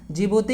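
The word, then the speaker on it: Djibouti: Somalia, जिबूती, D silent होता है, जिबूती, Ethiopia, south Sudan या फिर इटरिया।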